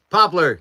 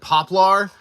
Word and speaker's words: poplar: Popppler. Yes, I I do make some things out of popppler or as I used to pronounce it, poplar. I pronounced it poplar for the longest time because I had this